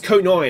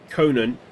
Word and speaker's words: Conine: pitch I think it's conine I think he pronounces it I don't know why I'm thinking Conan I I think it I think he pronounces it co9 if I remember correctly anyway whatever his name